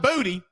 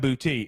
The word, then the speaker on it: Boutte: By the way, we found out today it's not Kayshon Boutte, it's Kayshon Boutte. That's how he says it's pronounced.